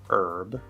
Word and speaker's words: herb: Now note that sometimes you will see the letter H and it's silent. It's just spelling, like in the word hour, or in the American pronunciation of the word herb.